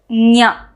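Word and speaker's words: ञ: This nya is part of the Talavya group, and it is also an Anunasika. So this sound has to come from the Talu region. Talu is nothing but the hard palate region, plus from the nose. So this is pronounced as nya.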